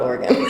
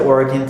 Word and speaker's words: Oregon: state was called Oregon it's not Oregon by the way it's Oregon Oregon I didn't learn that